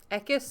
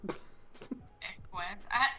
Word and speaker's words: Equus: Ekis, or I don't know how to pronounce it. I'm probably sounding like an idiot. Equus.